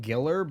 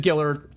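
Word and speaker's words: Giler: Ger I think he pronounces it Giller, but even though there's only one L, so I don't but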